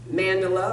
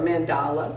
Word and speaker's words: mandala: So in my dream, Archangel Michael showed me a section of my mandala or mandala, depending on how you want to pronounce it, that said healer.